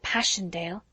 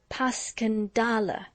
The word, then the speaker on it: Passchendaele: ones oh mr marchant it was so strange to hear you call it passion dale why if i may ask because that's the way i pronounce it to myself but i looked it up and it's more like pascandala bless you all the